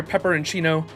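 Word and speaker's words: Peperoncino: of you I like that if you're here pepperoncino then you must be the Cryptor in charge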